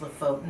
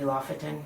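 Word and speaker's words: Lofoten: I think it's pronounced Lefotan Islands, maybe Lafetan, but I think it's Lefotan Islands.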